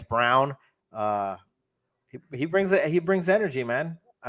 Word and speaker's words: Braun: yeah, I don't know if it's Braun or Brown. It says Brown, but it's spelled Braun. So Braun, I guess Brown.